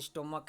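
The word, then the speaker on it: stomach: वो च है, और इसका उच्चारण यहाँ पे क हो रहा है, अर्थात इसका प्लुरल बनाते समय एस जोड़ा गया है और इसका जो प्लुरल होगा वो स्टोमक्स हो जाएगा।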